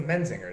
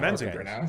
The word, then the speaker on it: The Menzingers: whose name I'm not going to attempt to pronounce because I don't know it. It's the Menzingers. There you go. Menzingers.